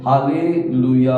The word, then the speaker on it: Halleluyah: एक हलाल करके जो शब्द, और वो एंड देन या, ये 3 शब्दों को जोड़ने के समय उसे अपन प्रोनाउंस करते हैं हालेलुया करके अपन प्रोनाउंस करते हैं।